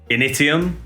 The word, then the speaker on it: Initium: Initium, I believe is how it's pronounced, as it's Latin for the beginning, in 1984, and Samhain